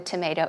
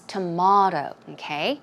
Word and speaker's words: tomato: included that is because in America of course we say tomato tomato but elsewhere for example it can be pronounced as tomahto I see tomahto tomahto as in like British English or even in Australia they may say tomahto tomahto and not tomato it's your choice you